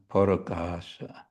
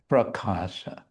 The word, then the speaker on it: parakasha: And rupe bhuvana parakasha, from it the entire material cosmos is manifested. Parakasha is prakasha in Sanskrit, and we can say Sanskritized Bengali with an added syllable.